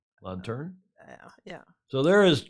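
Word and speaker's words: lanterne: know what the lantern how do you say l-a-n-t-e-r-n-e in French on turn yeah yeah so there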